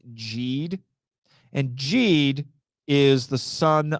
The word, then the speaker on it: Geed: prequel 2017 Ultraman Jade I used to think it was geed it's actually pronounced jeed and Jade is the